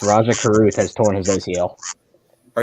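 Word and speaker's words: Rajah Caruth: I said this correctly is it pronounced Raja Raja Cruz yes Raja Carruth has torn his ACL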